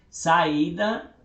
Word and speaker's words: saída: Então, saída é hiato, né? É sa, i, da. Então, aqui, ó, ela está sozinha, é acentuado.